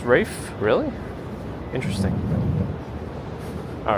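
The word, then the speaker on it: Ralph Fiennes: Ralph Fines is pronounced Rafe.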